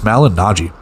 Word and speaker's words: Malignaggi: Salvatore, or Sal Malignaggi, thank you, Joey Bonadonna, for the pronunciation. It is Malignaggi.